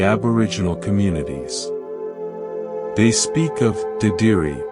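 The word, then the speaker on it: dadirri: They speak of diri pronounced dedi.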